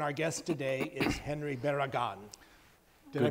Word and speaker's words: Barragan: And our guest today is Henry Barragan. Did I pronounce that right?